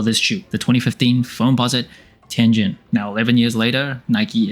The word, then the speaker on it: Tianjin: It's actually pronounced Tianjin, but I'm trying to say it like a foreigner would, so it doesn't sound as foreign to you.